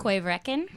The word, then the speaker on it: Corryvreckan: third one here, Trisha pronounces it so well. Why don't you tell Quaverekin.